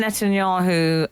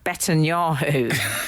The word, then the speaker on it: Netanyahu: her e standers yeah he called Benjamin Netanyahu um betan yaho yeah but that that